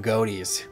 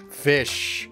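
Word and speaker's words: ghoti: fish because it's like gh in tough sounds like an f o in women sounds like an eye and ti in like the word motion sounds like shh so it's a fish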